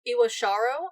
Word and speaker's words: Iwashiro: They later brought on Taro Iwashiro, I believe is how you say his last